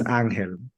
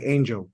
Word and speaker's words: Ángel: what it is yeah because it's anel and they'll be like can you say that again anel an anel how do you spell it like Angel oh angel I'm like it it